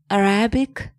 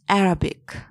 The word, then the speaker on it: Arabic: It's not Arabic, it's Arabic.